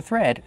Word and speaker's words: thread: We have the TH making the voiceless sound with air, plus the R. Thir. Be careful, not thr, but thread. Plus the vowel e like red and bed.